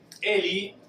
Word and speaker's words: ele: El pronombre Eli, fíjense que se va a escribir L y se va a pronunciar la E final como una I. Su pronunciación va a ser Eli.